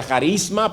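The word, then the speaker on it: χάρισμα: Se pronuncia carisma, pero suena igual, carisma, ¿verdad?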